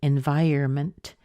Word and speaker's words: environment: the end environment and to be honest sometimes people don't even say the end they just say environment environment so it you'll hear it in different ways depending on who saying saying